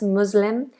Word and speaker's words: Muslim: But just knowing that that S is a Z, mus, voiced S, Muslim, and the L, lots of people struggle with this dark L sound, Musl, make sure you